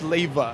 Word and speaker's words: Leyva: I'm GNA have you say your last name uh Lea Josh Lea so all the girls stalking him that's how you you pronounce his last name so I know you're